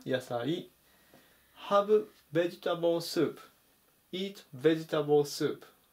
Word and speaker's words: ベジタブル: 883 番ベジタブルベジタブルアクセントに注意ですね最小強く読みますあとはカカでベジタブルってよく書くんですけども発音はウニ点々の方のですねベジタブルていう風に読みます名刺で野菜と